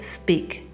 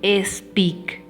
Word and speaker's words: speak: Nos es muy difícil para los hablantes de español pronunciar el sonido de las consonantes sin una vocal antes. La tendencia es decir speak y no podemos decir eso. La S suena sola, es speak.